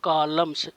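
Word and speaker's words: columns: madam comma through the कॉलम्स सीओ एल यू एम एन एस N silent है कॉलम माने होता है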